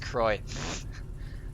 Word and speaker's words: Croix: Croix except and literally like 15 miles apart from each other I was bounced Croix how do you get that from cro IX